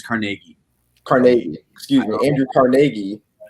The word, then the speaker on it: Carnegie: for the people that are working in uh carnegie's you know factories or working uh you know